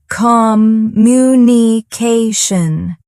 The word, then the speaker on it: communication: For instance, say the word communication. Notice how the stress is on ta communication.